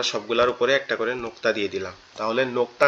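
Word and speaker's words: ض: আমাদের জিহ্বার গোড়া অর্থাৎ আমাদের জিহ্বার একবারে ভিতরের অংশটা ডান পাশের মাড়ির সঙ্গে লাগবে।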